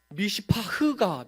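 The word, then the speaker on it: מִשְׂפָּח: 근데 여기서 포악함은 굉장히 유사한 미시파흐입니다. 하나님은 미시파트를 바라셨는데 미시파흐가 맺혀집니다. 여기서 정의라는 단어는 째데카라고 말할 수 있는데, 째데카. 그런데 이 부르짖음은 째아카입니다. 째아카. 미시파트를 바라셨는데 미시파흐가 나오고, 째데카가 나오길 바랐는데 째아카가 나옵니다.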